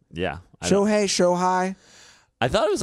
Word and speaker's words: Shohei: I always wonder if I pronounce the name correctly. Yeah. Shohei. I thought it was like Shoei.